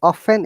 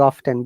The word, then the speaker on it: often: Both are correct. I have also heard even in the UK they pronounce both of them, but Americans say often. They don't pronounce often. But in England, people Often. say both of them. They say often, they say often, depending on their mood. So you Mhm. can use either of the sounds.